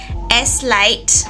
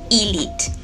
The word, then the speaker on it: Eslite: been pronouncing it as sight all this time no it's actually Elite the S is silent I actually went there